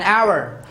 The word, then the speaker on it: hour: the previous videos uh i have told you that the letter h is silent when it is used